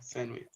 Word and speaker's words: sandwich: Sandwich, D okay? silent, remember.